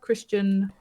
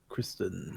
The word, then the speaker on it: Kristan: We come back and meet the quartermaster, Christian Morendir. Don't know if I've said that right. Yeah, Kristen. I've put Christian. No, Kristen. Kristen.